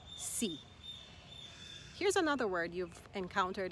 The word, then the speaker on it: sí: The word for yes is a one syllable word, but it's emphasized. Sí. Sí. If you see this word without an accent, it's another word. It means if.